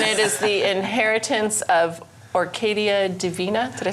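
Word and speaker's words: Orquídea Divina: yes, and it is the inheritance of Orcadia Divina.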